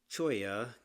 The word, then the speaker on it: Cholla: We are in Joshua Tree National Park, California, and we are going to discuss the Choya Cactus Garden.